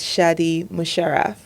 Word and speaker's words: Shadi Musharraf: Everyone, welcome to the podcast, Shadi Musher. Did I pronounce that right? Yeah, that's right. That's right. All right. Thank you. Welcome to the show, Shotty.